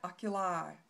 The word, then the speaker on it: oculi: eye the obicularis oculi oculi kind of rhymes with eye if you kind of listen for that oculi i your zygomaticus is